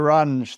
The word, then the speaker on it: Ranj: saying Dr range is that right yeah know range is absolutely fine yeah you I honestly don't